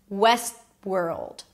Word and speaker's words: Westworld: So I don't really pronounce the T. It's not West. West. Moving on to the next word. World. West world.